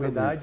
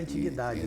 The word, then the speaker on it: antiguidade: E existem algumas palavras que podem ter as duas pronúncias, como Exatamente. antiguidade e antiguidade, né?